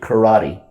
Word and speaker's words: karate: Then later on, Okinawan Te became known as karate, but the Americans pronounce it karate.